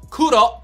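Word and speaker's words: 黒: look at your pants black or kudo is how you pronounce it in japan is a powerful color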